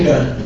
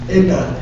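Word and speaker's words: इडा: called in Sanskrit, therefore, Ida. Say Ida. If you want to pronounce it correctly, you must turn your tongue back. Then everything you say will sound like Sanskrit. Ida.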